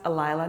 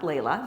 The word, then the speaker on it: Alila: So she knows her name is supposed to be pronounced Alila, not Layla.